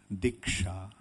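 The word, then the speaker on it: दीक्षा: The word diksha, the Sanskrit word for initiation, is diksha. This diksha is a combination of two syllables, di and sha.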